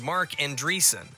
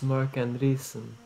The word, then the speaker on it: Marc Andreessen: Anderson and entities place a software engineer named Marc Andreessen oh that's how you pronounce it and the reason is that did you know gaming I can't believe it it's Marc Andreessen right excuse me you follow butch and conveniently